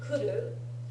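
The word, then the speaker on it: 来る: If you write it with mas, you have to remember to write it, to read it kimas.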